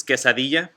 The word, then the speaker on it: quesadilla: so you guys know how in spanish the word quesadilla is quesadilla the two l's make a y sound that's a thing in